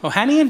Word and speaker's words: Ohanian: Ohanian, did I pronounce it correct?